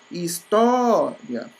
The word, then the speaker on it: história: Então, ó, história. Ó, o tó é a mais forte, logo ela é a penúltima, porque essa é a última e essa é a penúltima.